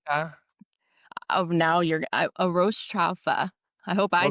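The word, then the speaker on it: arroz chaufa: oh, now you're a roast chafa. I hope I said it right. Oh, arroz chafa?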